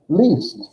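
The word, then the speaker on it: liest: Yeah, how do you say L-I-E-S-T? Least. Oh, Because I-E makes an, I thought that's what you said. I-E makes an E sound.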